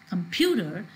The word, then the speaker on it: computer: you see when i'm when i'm pronouncing this word computer here pew is of higher pitch in comparison to i'm not pronouncing it as computer and pronouncing it as computer so here we see that this the syllable pew has a change in pitch it said more clearly